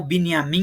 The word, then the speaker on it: Binyamin: Em que afirmou que apoiará com todos os nossos meios uma ação contra o exército sionista de Benjamin Netanyahu, ou Binyamin Netanyahu, conforme uma pronúncia aí mais israelense, né?